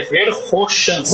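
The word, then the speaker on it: Verkhoshansky: Isso é uma regra, mas o nome correto, a pronúncia correta é Verhoshansky, Roshansky, certo?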